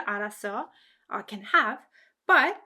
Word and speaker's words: 알았어: it, I knew it, the verb 알았어 is stressed. So it's pronounced like this. 그럴 줄 알았어. 알았어. 그럴 줄 알았어. As you can hear, the emphasis, the stress is on 알았어, which makes sense because